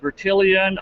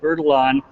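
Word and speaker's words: Bertillon: who don't know beron some folks pronounce it bitian I prefer the more true French pronunciation although I don't speak a word of French so I call it veralon but he was a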